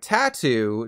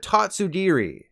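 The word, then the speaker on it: Tatsugiri: in the paldea region instead of saying its name like tattoo dondozo's best friend is based on the Japanese word for stand so you want to call it tatsudiri I probably still managed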